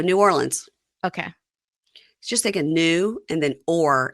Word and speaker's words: New Orleans: yell at us okay so it's not nin nobody says that New Orleans yeah just go New Orleans okay just take a